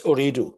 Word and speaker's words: Ooredoo: Um, you continued on to Doha after to join Ooredoo, is how you pronounce it? It's Ooredoo, correct, yes.